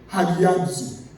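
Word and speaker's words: ἁγιάζω: The word, the New Testament word used for holy comes from the verb hagiadzo. Hagiadzo. It is spelled Hagiazo. Hagiazo is pronounced Hagiazo.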